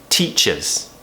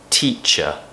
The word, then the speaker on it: teacher: videos are teachers teacher so we do this nice a bit like t-shirt t-shirt teacher the stress T teacher so remember when we stressed a syllable in a word our tone will go up maybe it will sound a little bit longer and the unstressed syllable will be nice and relaxed teacher I'm a teacher